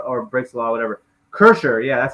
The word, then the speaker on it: Kreischer: I guess uh or breaks the law whatever cursor yeah that's how you say his name great